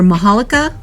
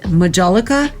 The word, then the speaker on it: majolica: These are majolica, or as some people pronounce it, majolica.